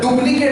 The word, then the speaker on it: duplicate: भयंकर स्पेलिंग आता है, डुप्लीकेट हम लोग बोलते हैं, most of the cases we pronunciate like डुप्लीकेट, it's not p, it's not b, it's p, it's p, okay?